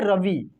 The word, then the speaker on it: रवि: छोटी ई वाले जो भी आपको शब्द मिलेगा ना, उसका प्रोनाउंसिएशन सिंपल तरीके से होता है। बड़ी ई वाले शब्दों का प्रोनाउंसिएशन जोर लगा के होता है, खींच कर होता है।